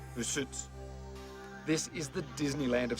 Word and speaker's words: Rusutsu: But we were heading east of Sapporo, about a 90-minute drive to Rusutsu. That's the English pronunciation. The Japanese call it Rusutsu.